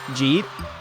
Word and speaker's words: jeet: say G, like, where you would pronounce it like DJEET, and it's short for did you eat yet? Or like, did you eat? Jeet.